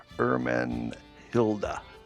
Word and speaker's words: Ermenhilda: spell her name, and it's old Germanic, and the H at the beginning is pretty much silent, and the G is pronounced more like an H. So it would be Ermenhilda would be how you would say her name.